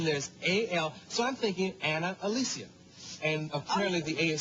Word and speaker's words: Ana-Alicia: But it's Ana-Alicia.